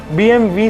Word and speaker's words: BMW: जाता बल्कि ये कंपनी BMW से प्रोनाउंस होती है क्योंकि BMW कंपनी जर्मनी से ओरिजिनेट हुई है और जर्मनी की नेटिव लैंग्वेज में W को V की तरह प्रोनाउंस किया जाता है।